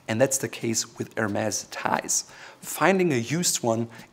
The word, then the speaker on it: Hermès: point by the way the brand is called Hermes not Hermes and to learn more